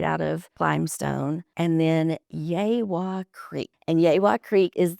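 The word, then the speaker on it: Yegua: The creek that starts with a Y and he said yaywa.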